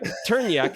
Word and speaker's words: Trnjak: Locally in Bosnia-Herzegovina, it's the Turnjik grape. Turnjik. It rhymes with train wreck, right? It rhymes with train wreck, apparently. Turnjak. There we go.